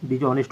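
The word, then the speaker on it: dishonest: आज रखिएगा कि अगर O के पहले H रहता है, ठीक है, O के पहले अगर H रहता है तो H का उच्चारण नहीं होता है।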